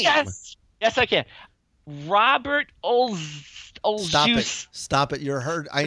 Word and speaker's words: Olszewski: Robert Olszewski. Stop it! You're hurt. I know the man, and you're hurting me on behalf of him. It's Robert Olszewski.